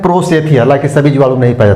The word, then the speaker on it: prosthecae: तो लिख लीजिए एक इसमें बाहरी संरचना में एक और प्रोसेथी, प्रोसेथी PROSTHECAE स्पेलिंग ही होता है प्रोसेथी का, हिंदी में लिख लीजिएगा प्रोस्थेसी, हाँ प्रोस्थेसी यही होगा।